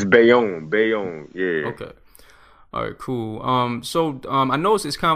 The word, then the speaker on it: Bayonne: at like high schools but now that print pronounced like the name of the city but it's beyond it's Bayonne Bayonne yeah cool um so I know it's